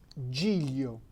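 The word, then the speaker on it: giglio: this case is l so you will pronounce jillio g-i-g-l-i-o-g-o this is i think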